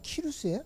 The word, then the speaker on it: 키루스: 그래서 이 키루스의 교육이라는 책에 보면 어떻게 리더가 돼야 되는지를, 이 키루스가 누구냐면 바사왕 페르시아 왕 고레스가, 이 페르시아 발음으로 하면 키루스예요.